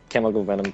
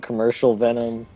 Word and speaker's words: Chemical Venom: You guys Everybody says my name wrong. My Chemical Venom tag. Oh, did I say Chemical? Yeah, I've been called Charcoal. I've been called Charcoal Venom. Commercial Venom.